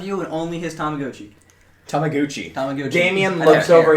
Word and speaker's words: Tamagotchi: uh it did a time how do you pronounce it uh this is this is a Tamagotchi um it's a little kind of like portable